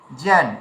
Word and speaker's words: জ্ঞান: তাহলে এখানে যে আমরা যাকে জ্ঞান বলছি এর উচ্চারণটা হবে কি? জ্যান এমন উচ্চারণ হবে।